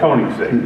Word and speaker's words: Koenigsegg: You threw that in to see if I could pronounce it. Yeah, it's Koenigsegg.